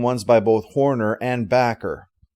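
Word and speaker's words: Bakker: by both horner and backer now i have heard it said that it's supposed to be pronounced bocker i'm not sure about that though it wouldn't surprise me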